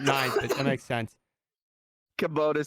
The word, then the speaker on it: Kubota: It's Kubota. Since you guys play, like the little orange tractors they run around? Kubota.